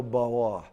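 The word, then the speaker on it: ברא: Don't always put a drill on the R. Otherwise, no one else that speaks Hebrew will know what you're saying. There are some who go bawa. There are Hebrew speakers that bawa. They put a little wa in the sound of the R's. Don't worry about that. Bara is Sephardic.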